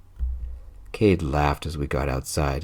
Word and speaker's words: Kade: His name rhymes with laid." Cade laughed as we got outside and kissed me.